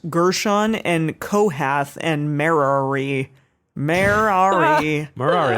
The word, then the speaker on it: Merari: Merari, like a Ferrari, but Merari. But Merari. I liked Emily's version that it's like Mary, but with several syllables.